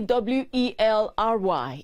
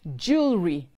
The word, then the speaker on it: jewelry: always effective j e j-e-w-e-l-r-y is a piece of ornament worn by women and men like the earrings i have on now it is pronounced jewelry not jewelry so please note it is jewelry right right v-e-h-i-c-l-e is